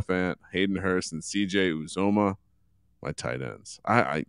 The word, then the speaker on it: Uzomah: his last name last year as well cj uzoma oh yeah starting tight end for the new